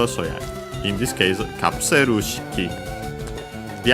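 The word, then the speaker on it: カプセル式: Okay, the accent is before shiki itself, so yeah, in this case, kapseru shiki.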